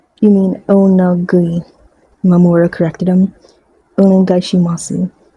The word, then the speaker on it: Onegaishimasu: Onegaishimasu. And you don't really pronounce the su part unless you're a little kid.